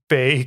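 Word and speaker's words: Bae: hijacked her last name in terms of like ba caught me slipping or whatnot but anyway it's pronounced ba so the Korean cabbage I believe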